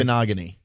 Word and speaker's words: Igbinoghene: Igbinoghene.